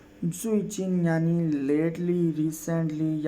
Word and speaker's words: 最近: मेरे साथ प्रोनाउंस कीजिएगा। जुइचिन। जुइचिन यानी लेटली, रिसेंटली या हाल ही में।